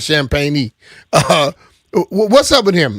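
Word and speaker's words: Champagnie: At first, I thought they were saying his name wrong, but his name is Champagne.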